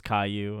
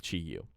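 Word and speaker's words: Chi-Yu: hang on pronunciation okay it's chiu I thought it was Caillou and that would have been that would have been pretty funny I don't know some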